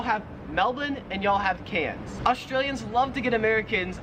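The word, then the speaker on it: Cairns: it wouldn't matter because the Australian accent just leaves the r off if it's ever in the last syllable of a word so you would pronounce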